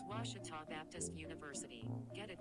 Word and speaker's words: Ouachita: washington sports digital network i've heard people say oh a cheetah oh wichita oh a cheetah is it pronounced searching for washi at a baptist university back in texas everybody pronounces it wichita but really it's ouachita washington washington how would